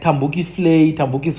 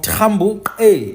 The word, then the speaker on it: Thembu: In fact, even in Eastern Cape, there's places like Tambuki's Flay. We know Tambuki is actually just an English mispronunciation of Trambuke or Trambuke.